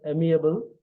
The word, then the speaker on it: amiable: share the screen the screen is visible the pronunciation it's amable it's an adjective the meaning of amable is